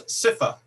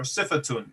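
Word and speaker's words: صفة: And then there's sifa, or sifatun, if we're going to pronounce the ta marbuta.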